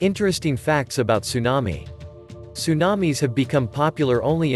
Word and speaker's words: tsunami: a tsunami a tsunami from japanese harbor wave pronounced tsunami is a series of waves in a water